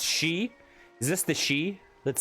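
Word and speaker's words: Sidhe: And the She were spelled like S-I-D-H-E.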